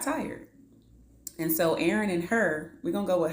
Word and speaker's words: Hur: And so Aaron and Hur, we're going to go with Hur. It's spelled H-U-R. We're going to say Hur. We're going to roll with that.